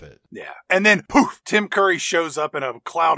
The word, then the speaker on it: Tim Curry: introduce myself my name's tim curry pronounced within hurry you ladies know that